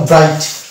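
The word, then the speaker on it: bright: অর্থাৎ এটার উচ্চারণ হলো ব্রাইট জি এর উচ্চারণ আসলো না নেক্সট অব জি এইচ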